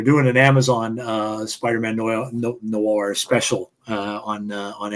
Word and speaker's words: noir: No, I hate pronouncing that word. Noi, whatever. No. No. No. No. No. Yeah, whatever it is. Noir. That's it. That's it. Noir.